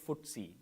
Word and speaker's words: FTSE: the ftse hundred uh it's ftse but people pronounce it footsie kind of funny but that's how it's pronounced so let's start with